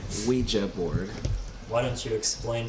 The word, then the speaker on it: Ouija: It's pronounced Ouija board.